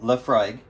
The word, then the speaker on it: Laphroaig: real quick laphroaig pronounced laphroaig because i learned that sounds like a love frog is an all malt